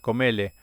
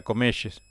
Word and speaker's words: Comelles: Y Víctor Hugo siempre decía la lleva Comele. Y después cuando vino a la Argentina lo pronunció bien y era Comelles.